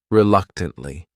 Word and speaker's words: reluctantly: This word has four syllables and the stress is on that second syllable. That third syllable also has that schwah reluctantly. Reluctantly.